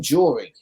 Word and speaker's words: Jori: joey's mom she apparently you actually say her name jory and i i actually